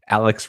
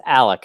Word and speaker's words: Alec: got one of them Alex Alex thanks for coming today no problem can I actually yeah it's Alec actually with the c yeah my pronunciation is